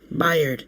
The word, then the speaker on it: Byard: Bayard? Byard.